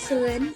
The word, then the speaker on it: Salin: right pronunciation? Yeah, my name is Salin, and I'm originally from Thailand, but now I'm